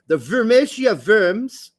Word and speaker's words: Worms: Formerly of the Houston Dynamo Academy, spent the last 2 years playing for the Wormsia Worms. That's an actual team, and they don't pronounce it with W's. It's Worms.